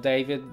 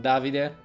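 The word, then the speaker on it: Davide: so there's the David it's pronounced not David non Davi dear I'm just David it's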